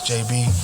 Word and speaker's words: Jabee: information yeah everything is at my name is JB and JB is spelled j-a-b-e-e um and that's how you can